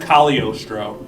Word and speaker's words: Cagliostro: It's spelled Cagliostro, but it's pronounced Cagliostro. Oh, Cagliostro.